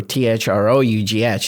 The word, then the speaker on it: through: And the word through, T-H-R-O-U-G-H, is pronounced through.